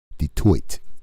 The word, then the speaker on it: Detroit: detroit is still detroit detoit is the proper way to say it detoit it's french even though it was colonized by the british it has a french name right on i appreciate